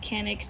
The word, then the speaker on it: Canik: Now, I certainly would have liked to have had a Chonic TP9, and yes, I realize I'm saying Chonic instead of Canik. Chonic is the Turkish pronunciation, but I just didn't have $400 to spend at the time.